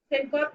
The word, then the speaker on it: syncope: Syncope क्या होता है? Is when we delete the vowels from the words. It's syncope. Its proper pronunciation is syncope.